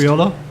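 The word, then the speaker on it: Criollo: it the what uh it is spelled c r i o l but it's pronounced Creo Creo Creo cre Creo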